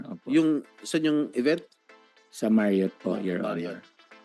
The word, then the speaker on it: Marriott: sa Ba't Marriott i-pronounce it? Hotel Gala o po. gala? Oh. Sa Marriott Hotel po, Marriott.